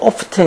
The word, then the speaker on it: often: 이렇게 꾸며 주는 거죠 이거 오픈이라 하지 않고 또 오프튼 이렇게 발음한 애들도 있고 오프튼이라 발음하는 것도 맞고 오픈이라고 발음한 것도 맞아.